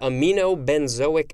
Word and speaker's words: aminobenzoic: acids are excreted in excessive amounts next is aminobenzoic acid amino ben zoic next word acid aminobenzoic